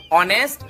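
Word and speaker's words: honest: अबे इसमें H silent है, ऑनेस्ट और ऑनर होता है।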